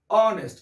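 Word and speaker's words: honest: यहाँ देखिए, ऑनेस्ट बॉय की बात करें तो कुछ ऐसे शब्द होते हैं जिसका पहला लेटर साइलेंट होता है, जैसे एच। एच यहाँ पर क्या है, साइलेंट। इसको पढ़िए, ऑनेस्ट।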